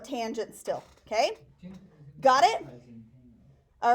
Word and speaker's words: tangent: it's abbreviated cos and this one looks like t-a-n which is tan but I'm going to think you're laying in a tanning bed if you say tan so call it tangent still okay got it